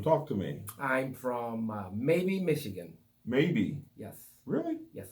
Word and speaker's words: Maybee: I'm from Maybe, Michigan.